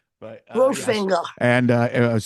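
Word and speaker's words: Wolfinger: Well, it's pronounced Wolffinger, but yes. Wolffinger.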